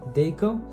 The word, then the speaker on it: Dako: Deco.